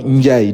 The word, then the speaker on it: Ndiaye: Oui, le nom Ndiaye, nous, on l'écrit N-D-I-A-Y-E. Partout, on dit Ndiaye.